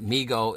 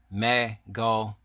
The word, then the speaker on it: Mego: employees to understand that Mego is pronounce me go and not may go but that's all fine